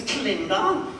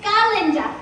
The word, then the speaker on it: Galinda: Although some of us still tend to favor form over content, Miss Clinda. It's Galinda with the ga.